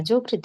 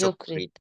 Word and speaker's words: যকৃৎ: যকৃত, মসৃণ, না, যকৃত না, এটা হবে যকৃত। যকৃত। যকৃৎ।